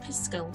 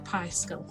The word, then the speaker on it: Piskel: As you can see, what we need to put in here is something called Piskel or Piskel, and that's spelled P-I-S-K-E-L.